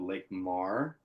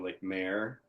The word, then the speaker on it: Lake Mar: am in a band called Lake Mar, or Lake Mare, or Lake Mari, depending on how you want to pronounce it. It's easier spelled than said. So it's LAKE space MAR/E.